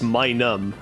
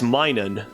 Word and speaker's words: Minun: by the way, I've been saying his name wrong. For whatever reason, I've always thought it's Minum, like M-I-N-U-M, because I